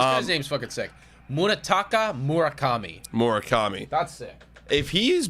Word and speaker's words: Murakami: It's Murakami. That's gonna be an out. Or no, base hit. Sorry, excuse me. I just looked up. Yo, this guy's name's fucking sick. Munetaka Murakami.